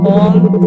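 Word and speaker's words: ॐ: Bueno, antes de terminar esta mantralización, vamos a terminar con el mantra Om, que se pronuncia Aum.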